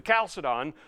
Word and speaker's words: Chalcedon: West who are saying, don't mess with the Chalcedon.